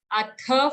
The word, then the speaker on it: Atha: Atha, full Th sound, and Panchadasho.